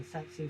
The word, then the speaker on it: tsetse: The difference is that this parasite causes African sleeping sickness, and the vector is the tsetse fly, or also pronounced the tsetse fly, and pronounced for 2 other ways, I don't remember.